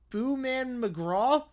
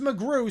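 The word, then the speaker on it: McGraw: Uh, Booman McGra. It's pronounced Mcgru. Silent W.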